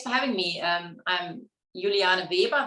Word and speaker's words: Juliana Weber: having me um i'm juliana weber that would be the proper german pronunciation i was actually born